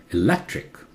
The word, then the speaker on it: electric: Look, this E, the first one is very short. E or A. Electric, louder. Electric or electric.